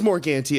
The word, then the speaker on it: Morgante: say your last name is it morganti it is more ganty okay I literally I